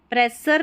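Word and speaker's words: pressure: आर ई को यहां पर सर नहीं पढ़ना है। शर करके आएगा। यानी कि ये जो डबल एस यू आ रहा है इसको श पढ़ा गया है। एस का उच्चारण श है। ठीक है? प्रशर प्रेशर नहीं बोलना है। प्रेशर प्रोनाउंस करेंगे।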